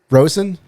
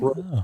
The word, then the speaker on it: Rosen: I get called Rosenberg. Rosenberg. They add some extra syllables on there, huh?